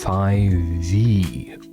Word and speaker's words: f5ve: Five members profile pronounced as 5V.